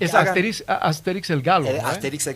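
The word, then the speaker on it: Astérix: Pero en español lo justo sería un acento en la E, ¿no? Asterix en realidad.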